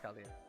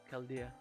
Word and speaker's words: Chaldea: You don't pronounce the H, it's Chaldea. Chaldea.